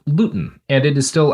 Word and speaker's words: Luton: The town in England they live in was called Luton, and it is still, I think it's usually pronounced by English people, Lon, but you know, you know how they are.